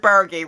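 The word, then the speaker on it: Burgi: able to say it with 100 confidence richard bergie richard bergie richard bergie i confirmed it in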